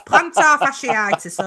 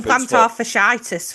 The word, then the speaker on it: plantar fasciitis: It's plantar fasciitis. All right. I know, but I can't pronounce that. So it's just I was calling fanficitis for god knows how long until someone corrected me.